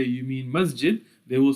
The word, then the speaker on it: masjid: example in egypt that pronounce the letter jim as gim right so masjid would become masgid and jamaa would become gama and janna would become gana many egyptians because they